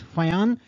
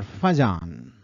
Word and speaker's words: Fajans: rules just to note you can pronounce it as Fon or fajan you know that a